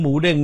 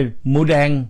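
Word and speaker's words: หมูเด้ง: ใน ข่าว ทั่ว โลก แต่ ปรากฏ ว่า พอ ฟัง แล้ว ฝรั่ง เรียก ออก เสียง เด้ง ไม่ ได้ ครับ กลาย เป็น หมู แดง หมู แดง ออก ฟัง รู้ สึก เหมือน หมู แดง ลูก ฮิปโป แครส ก็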